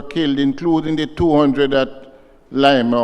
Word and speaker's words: Lima: including the 200 at Lima or Lima whatever we call it Lima well in Peru it is Lima the Spanish pronunciation Lima and um Mr Mayor